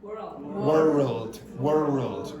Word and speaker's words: world: So what's a better pronunciation again? World. Try that. World. Yeah, so add a syllable.